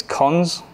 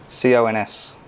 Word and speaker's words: cons: gonna keep using it it's name is cons Co NS cons cons has how many arguments